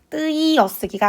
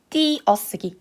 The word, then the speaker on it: 띄어쓰기: 지금이 쌍디귿이라는 자음을 가지고 있기 때문에이 친구는 무조건 뜨어쓰기가 아니라 띠어쓰기 이로만 발음을 해야 됩니다.